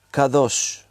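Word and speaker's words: קדוש: hemos leído, santo, santo, santo, esa palabra es kadosh. Te la voy a deletrear para que sepas cómo se escribe para los que toman nota.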